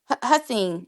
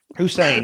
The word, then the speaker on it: Hussein: name is it uh yeah hassin is it hassin Hussein yes Hussein you did perfectly a well thank you